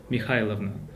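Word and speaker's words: Михайловна: So in Russian language we don't pronounce this K in Mikhailovna. In Russian variant it will be Mikhailovna. And the sound is H, Mikhailovna.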